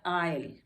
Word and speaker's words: isle: S आ गया है तो ये हो जाएगा आयल, आयल, आयल।